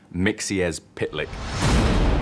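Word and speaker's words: Mxyzptlk: mythical i can't pronounce it it's one of those tricky ones it's pronounced mixie as pit lick there is so many characters that we've just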